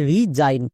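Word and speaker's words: resign: এই ওয়ার্ডটার উচ্চারণ হবে রিজাইন। কেন? কারণ একদম শেষে আইজি এন আছে।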